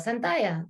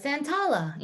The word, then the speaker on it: Santalla: So similar, like my name is Santalla. Double L in Spanish is like a Y. But in school, Santalla, you pronounce it a certain way.